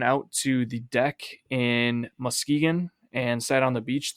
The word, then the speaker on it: Muskegon: You're saying Muskegon. It's not Muskegon. It's Muskegon. I mean, it's spelled Musk-Egan. Yeah, but you're putting so much emphasis on that K and the U.